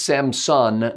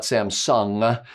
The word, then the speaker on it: Samson: Names include Terrafugia Transition, Samson Switchblade, and that's Samson, not Samsung, and PAL-V or PAL-V.